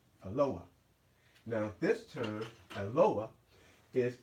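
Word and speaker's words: אלוה: Okay, so now the word that we just formed is, you see it can be luah, or the modern Hebrew would pronounce it as Eloah.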